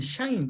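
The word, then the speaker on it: 鄕: 그 향을 우리는 향이지만은 중국 발음이 샹인 거야, 샹.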